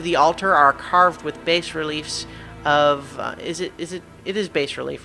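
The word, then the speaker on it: bas-relief: Yeah, the S is silent in power relief.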